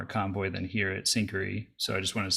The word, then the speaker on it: Syncari: What does it look like over at Syncari, which today I learned is how you pronounce it correctly.